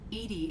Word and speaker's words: EDI: Why are you named Edy? Oh man. Edy is the phonetic pronunciation of EDI.